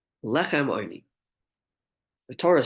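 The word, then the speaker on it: עני: It's pronounced oini with a cholam, but it's spelled without a vav, which is ayin nun yud, which could be pronounced as ani, poor person, although it's not pronounced lechem ani.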